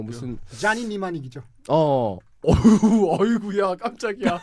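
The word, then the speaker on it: Johnny Mnemonic: 뭐 무슨 자니 니마닉이죠. 어이구야 깜짝이야. 앞에 P는 묵음입니다. PN 이렇게 되는데 자니 니마닉이라고.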